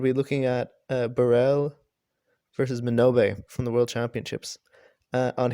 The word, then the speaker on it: Minobe: Minobe?